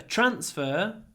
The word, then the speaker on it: transfer: transfer to the hotel so a transfer the stress is on the first syllable um the transfer was